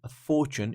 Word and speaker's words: fortune: on the second syllable Fortune is on the first syllable so they are different